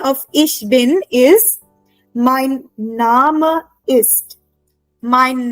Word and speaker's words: Name: Ich bin is Mein Name ist. Mein Name ist. Now see, name is written exactly the same in German and in English, right? But pronunciation is different in German. We pronounce it as Name.